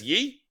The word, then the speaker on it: Yi: You basically wake up as Yi, or E, Y-I, which I think Chinese pronunciation is either E or Yi.